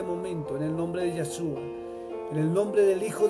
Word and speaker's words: Yeshua: Yo lo pronuncio en hebreo, Yeshua. Algunos le dicen Yeshua, pero Yeshua trae otra H, y